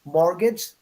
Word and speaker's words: mortgage: just to remind you the word mortgage has a t but the t is silent so it's mortgage okay no T but